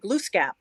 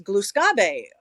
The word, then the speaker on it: Gluskabe: because I had mentioned glue scap and she said she's saying it wrong it's it's gluskabe uh it's uh you know